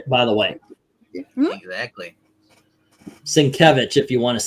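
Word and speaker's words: Sienkiewicz: do appreciate Bill s by the way exactly svich if you want to say it right or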